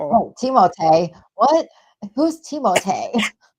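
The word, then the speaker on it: Timothée: Oh, Timote. What? Who's Teimote? That's how he said that's how he pronounced his name because he's French. Teimote.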